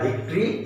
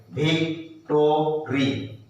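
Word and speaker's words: victory: तो वो होता है विक्ट्री स्टैंड। उसको इस तरह से लिखते हैं। स्पेलिंग करके पढ़ते समय हम लोग क्या पढ़ेंगे? विक्टोरी। लेकिन जब बोलते हैं ना, तो विक्ट्री बोलते हैं।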